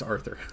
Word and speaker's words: Arthur: Author. No, it's Arthur.